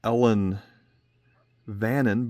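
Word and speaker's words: Ellan Vannin: It looks like you had pronounced it Ellen Vannon, but I believe that's how you pronounce Isle of Man in the Gallic language that's native there.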